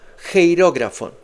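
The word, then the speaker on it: χειρόγραφον: Geirógrafo. Se pronuncia así.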